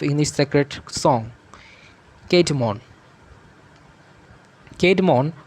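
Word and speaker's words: Cædmon: Kate Mon, pronounced Kate Mon, was a humble herdsman at the Abbey during time that Saint Hild was the abbess.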